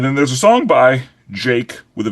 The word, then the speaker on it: JVKE: mean, yeah, like it's Jake, but just with an upside down A, I guess was yeah, because I was calling him Jvake for a long time.